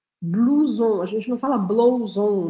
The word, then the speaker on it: blouson: Por exemplo, na palavra blouson, a gente tem OU com som de U. Blouson, a gente não fala blouson, né?